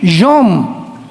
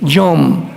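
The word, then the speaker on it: יום: Ahí se usa la palabra Asharit Yom, que es en los postreros días. La palabra día en el hebreo es con Y o M de mamá. Yom, Asharit Yom.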